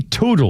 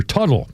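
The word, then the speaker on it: Teutul: Our birthday list includes Mikey Toodel or Tuttle. Mikey, it's called Tuttle. names to him pronounced by Mikey Tuttle.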